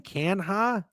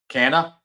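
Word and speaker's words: Canha: How did you just say his name? Kanha. Yeah, it isn't it Mark Cana. Cana.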